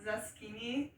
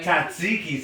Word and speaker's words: tzatziki: Like if there's like, we had like, what's it, one sauce called zucchini? I don't know. There's something new. It's We I had kept saying it wrong. Tzatziki sauce.